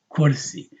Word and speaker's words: كرسي: هذا كرسي. Because sometimes people say ayatul kursi, but the dhamma is kursi, right?